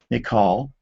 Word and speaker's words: Michal: And then we learn that in verse 20, Saul's daughter, Michal, there's several different pronunciations for it, but that's sort of the traditional English version.